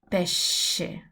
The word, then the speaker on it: pesce: So pesche, pesce. They look quite similar. This is a hard sound. This is a soft sound.